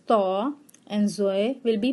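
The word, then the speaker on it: ط: And Toy will be pronounced as Taw, and Zoe will be pronounced as Zaw.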